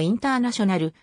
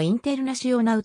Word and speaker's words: Internacional: サッカークラブである英語発音のインターナショナルブラジルポルトガル語発音のインテルナシオナウと表記されることも